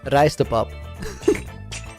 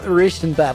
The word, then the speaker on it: rijstepap: Dutch word of the day, rijstepap. No, it's not Ristenpap.